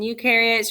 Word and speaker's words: eukaryotes: difference between prokaryotes and eukaryotes remember prokaryotes pro rhymes with no so they are not going to have membrane-bound organelles you rhymes with do so eukaryotes do have membrane-bound organelles so today